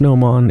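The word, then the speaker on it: gnomon: the shadow of the Noman I remember I looked up that word before it had something to do with a sundial hold on yeah it's pronounced Nome on its the projecting piece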